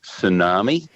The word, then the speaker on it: tsunami: And one of the real clever words, tsunami. Yeah. Spelt with a T.